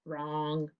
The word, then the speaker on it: wrong: you're not right sometimes you're wrong like song okay think about all your options what's the right one for wrong it sounds like er okay i'm gonna put it up it's wr like wrist and let's underline it and it's a silent w and wrong i hope you didn't